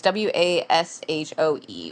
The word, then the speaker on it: Washoe: site, and somebody flagged down one of the Washoe, is that how you say it, county cops, I and don't know the they county's name, but yeah. it's like Washoe or something. It's Washoe, Washoe County, and they flagged him down, and